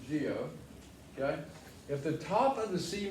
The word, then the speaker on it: guyot: I know that doesn't look like it. It looks like Guyot, but it's actually pronounced geo.